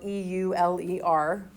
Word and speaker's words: Euler: don't think it's that important this mathematician named euler and yes it's spelled e-u-l-e-r but it's pronounced euler showed that f sub